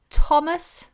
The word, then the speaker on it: Thomas: if it's voiced okay there are very few occasions where a th is not pronounced in this way for example the words Thames like the river in London pothole Thomas which is a boy's name and Theresa which is a girl's name now these particular example